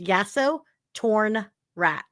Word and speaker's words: Yasotornrat: It's spelled phonetically. Um if you just break it down, it's yaso, then torn, and then rat. So it's yaso, torn, rat.